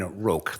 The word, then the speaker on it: Roch: I obviously represent the appellant Caroline Roch, that's how it's pronounced.